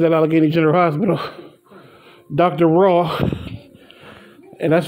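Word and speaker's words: Rauh: Raw. And that's spelled R-A-U-H.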